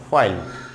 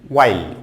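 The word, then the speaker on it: while: যেন হচ্ছে এইচ কোথায় কোথায় সাইলেন্ট থাকে সেটি, যেমন এখানে আছে হোয়াইল বলে থাকি আমরা, হোয়াইল নট হোয়াইল, ওয়াইল ওয়াইল ওয়া ওয়া ওয়াইল নট হোয়াইল, ওয়াইল ওয়াইল ওয়াইল speaking.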